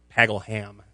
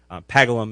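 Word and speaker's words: Paggleham: people in uh the the town of pagham pagle ham is what it looks like pagalum is the way it's pronounced um I play the part of a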